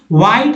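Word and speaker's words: white: व्हाइट में भी H silent है, यानी सफेद।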